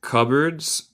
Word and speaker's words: cupboards: With cupboards and bookshelves. Con cajones y estantes, creo, en español, pero si estoy equivocado, alguien corríjenme, por favor. Cupboards and bookshelves. Note mi pronunciación, no se dice el P.